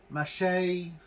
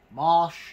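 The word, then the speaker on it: mâche: with corn salad it's also called mache Marsh depending on what where you're at what how you pronounce it um this one is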